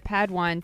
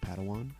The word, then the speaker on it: padawan: reunion master yoda assigned a pad one to this bold jedi it's pronounced padawan oh padawan excuse me